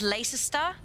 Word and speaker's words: Leicester: I'm gonna say this is as weird as Leicester, because you guys call it Leicester. Leicester, yeah, but you've added one extra syllable that you just don't want to pronounce.